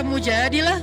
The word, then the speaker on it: Al-Mujadilah: Jadi tergantung kita bacanya dilah atau dalah. Kalau kita baca mujadilah, berarti perempuan yang lagi curhat. Kalau kita baca Al-Mujadalah, berarti curhat itu sendiri.